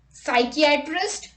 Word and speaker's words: psychiatrist: P is not pronounced at the beginning of many words using the combinations PS, PT and PN. Let's look at the example. Psychiatrist, pneumonia, pneumatic, psychotherapy, psychotic, psychologist, pseudonym, pterodactyl.